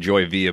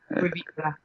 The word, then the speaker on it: Joy Villa: Italian, but we pronounce it the Italian way, so a lot of people can Joy Villa.